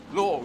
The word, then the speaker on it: law: law and I said think of the word as l o r law cuz that's how that's how English uh British English we pronounce it in England law you just say law